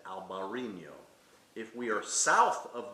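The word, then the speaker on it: Albariño: And a grape like Albarino is perfect for this climate.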